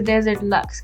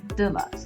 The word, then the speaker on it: Desert Luxe: And I know I've been saying it wrong in the last video, but I know it's the Desert Luxe kit, not the Deluxe kit.